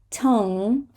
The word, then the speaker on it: tongue: Tongue.